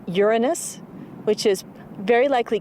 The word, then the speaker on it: Uranus: pronounce the planet's name Uranus which is very likely closer to the original pronunciation of the name of the god after whom it was named if you think Uranus